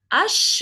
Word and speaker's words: H: e or has lung the accent it is pronounced differently but still echol we can see how echol ends with an uh yeah I don't